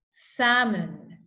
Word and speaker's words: salmon: one more time Amand salmon have walk talk would okay so remember these are silent L words you don't pronounce the letter L like this we have